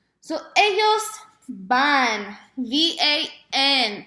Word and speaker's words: van: So ellos van, V-A-N, pronounced like a van, but because it's Spanish, the V is pronounced as a B.